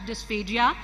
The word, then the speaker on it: dysphagia: The term dysphagia is pronounced differently in various parts of the world. However, in Pakistan, we often pronounce it as dysphagia, and during my presentation, I will be pronouncing it as dysphagia.